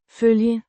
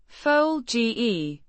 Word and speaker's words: følge: følge, Means to follow, pronounced følge, følge, with a more rounded vowel sound in følge, than in the English.